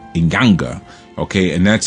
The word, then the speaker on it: inyanga: you had another aspect of Sanga called the inyanga inyanga okay and that's spelled NY a n g a or sometimes